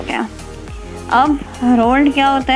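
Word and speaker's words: whorled: रोल्ड, डब्लू इसमें silent है तो रोल्ड.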